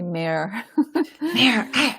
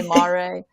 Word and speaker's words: Mare: correcting you it's actually may rhymes with fair or dare people say Mar it's all right um